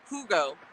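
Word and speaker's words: hygge: it's everywhere it's pronounced okay hold on it's pronounced hugo i am in the midwest usa but it's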